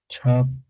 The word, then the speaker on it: chopped: Chopped. Chopped. Chopped. But we with with T. Two P's. Yeah. Uh, it's pronounced chopped with a T.